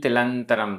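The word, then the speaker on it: तिलंतरं: तिलम तिल तिलंतरम तिलंतरम यहां पर संधि विच्छेद कर सकते हैं। तिल ल में छोटा आ अंतरम छोटा आ दो छोटे आ मिलकर वैसे तो बड़ा आ होना चाहिए लेकिन अंतरम में आधा न और त ये संयुक्त अक्षर है। संयुक्त अक्षर से पहले जो दीर्घ स्वर है वो भी ह्रस्व हो जाएगा।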